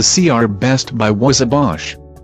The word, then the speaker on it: Bosch: The CR Best Buy was a Bosch. I think they picked a brand name that rhymes with posh to sound like a premium brand.